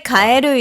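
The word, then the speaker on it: かえる: Actually, kaeru is like recently normally the people saying like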